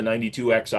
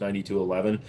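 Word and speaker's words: 92XI: performance of the performance get the 9211 the 92 XI it's actually pronounced 9211 uh cuz you get the same slide mounted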